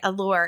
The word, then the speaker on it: ALLAUR: And for anyone who's wondering, Allore is spelled A L L A U R. So it's create. It's like Yeah. So it's the Alli and Laurel put together.